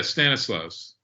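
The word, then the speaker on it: Stanisław: And the point was that Zabisco, pronounce his first name for me, Stanislaw? Yeah, Stanislaus.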